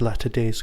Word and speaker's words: Latter Days: One Later Days, or Latter Days, depending on, of course, how you want to say it. There is an extra T in there, so of course it's Latter Days.